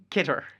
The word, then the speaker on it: CITR: CITR or CITR or whatever the acceptable pronunciation is. Get her. Kitter, yes.